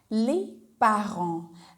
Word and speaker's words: les parents: In French you say les parents, as you pronounce A as A in French. I'm talking about alphabet, right?